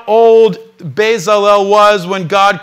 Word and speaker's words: Bezalel: Bezalel in Hebrew. God said, "See, I have called you by name, Bezalel, son of Ur, son of Hur, from the